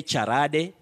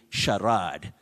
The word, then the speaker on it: charade: no facade a facade remember one time i talked about sharad don't say charade don't say charade carrad you say charade tom or willy of